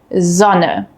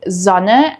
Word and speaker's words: Sonne: We have a voiced S sound, which is a soft buzzing sound. This sound uses your vocal cords, similar to the English Z in zoo.